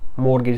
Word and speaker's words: mortgage: मॉर्गेज, इसमें जो टी है वो साइलेंट रहती है।